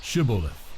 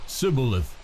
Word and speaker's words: shibboleth: then they would say to him say now shibboleth but he said sibilith for he could not pronounce it correctly Then They seized him and